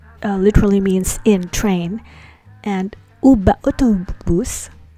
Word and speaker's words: uba: u instead of ve, because b, the next sound is the sound produced by lips coming together. So barakevet uba autobus, literally in train and in bus, because be means in, but we pronounce it as ba here.